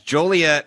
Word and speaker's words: Joliet: theory and Charlie Illinois no it's Joliet and you said it wrong this weekend it's done